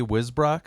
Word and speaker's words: Wisbrock: Is that Wisbrock? Yeah, Is that how you say it? perfect.